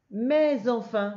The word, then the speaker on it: mais enfin: Mais enfin, tu vois que là je fais la liaison avec le S. Je dis pas mais enfin, je dis mais enfin.